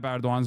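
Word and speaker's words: Erdoğan: Per grew up in Turkey developing his leftist worldview against the backdrop of prime minister and eventual president Rajip taan's regime. What is this silent g that's funny?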